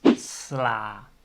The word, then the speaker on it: sla: becomes ah then finally if the word ends with an a the pronunciation is automatic ah so the dutch word for lettuce is sla so the word ends with a single a so it's an ah sound and the word for